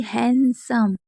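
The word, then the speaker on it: handsome: अब देखिए हैंडसम। तो हैंडसम में क्या है? डी साइलेंट है।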